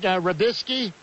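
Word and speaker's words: Robiskie: at would be Ohio State's Brian, is it Rabisky? Yes, sir. Okay, and Georgia's Mohamed Mascoy, is that how you pronounce it?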